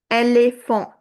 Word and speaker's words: éléphant: école You can see the sound is going like A. école éléphant In both the words, it's A.